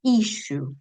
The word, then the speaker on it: issue: Si ustedes chequean en Lingüe, em, también lo que pueden encontrar es que esta palabra se pronuncia diferente a como tal vez la leemos en castellano en el producto, que decimos isue, ¿sí?